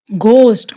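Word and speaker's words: ghost: घोस्ट, घोस्ट नहीं, घोस्ट, H silent है।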